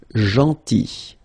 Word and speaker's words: gentil: Then, gentil. So remember this final L is not pronounced. Gentil.